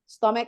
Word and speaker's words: stomach: perut and then tooth Jadi bukan bacanya stomac Ya tapi stomac ini bacanya stomach egg and then tooth